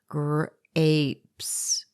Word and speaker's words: grapes: of the p sound the e on the end is silent because it is following a consonant blend them together for gr apes the vowel combinations that